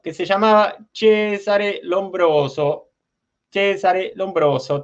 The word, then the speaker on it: Cesare Lombroso: Cesare Lombroso, te lo digo pronunciando en italiano.